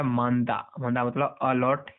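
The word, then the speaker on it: 많다: अब यहाँ पर देखो मांदा, और यहाँ पर ह का साउंड प्रोनाउंसिएशन नहीं हो रहा है, लेकिन एक्चुअली ये ह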